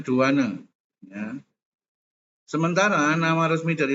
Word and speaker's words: douane: Sementara ya, Dovan ini biasanya kita bacanya douane.